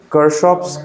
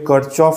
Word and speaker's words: Kirchhoff: এবারে প্রোনাউন্সিয়েশন কেউ কারশফ করে, কেউ কারচফ করে, কেউ কিরচফ, কেউ কিরশফ। তো যার যেরকম, আমি কারশফ বলি, হয়তো স্কুলের স্যার দেখবে কিরচফ বলতে পারে, তো সেম জিনিস।